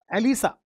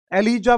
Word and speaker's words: ELISA: 167 एलिसा, एलिसा, एलिजा बोलो pronunciation, चाहे एलिसा, ये भी कई बार एग्जाम में आया वो सवाल है।